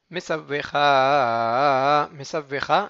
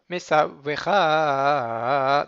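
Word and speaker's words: מצוך: Anochi, Mesavvecha, il est aussi Millera. Mesavvecha, donc je découpe exprès, mais Mesavvecha, c'est tout dans la continuité.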